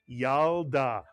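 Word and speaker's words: ילדה: The shva under the lamed is silent. It tells you to simply add the lamed to the preceding vowel and letter, the yud and the patach, to create the first syllable yal, the second syllable da.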